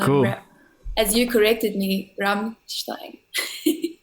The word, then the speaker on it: Rammstein: As you corrected me, Rammstein. Rammstein. Oh, right. Yeah. How did you pronounce it?